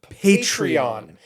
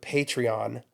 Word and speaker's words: Patreon: It's called Patreon. Pronounce the T. It's not Patreon.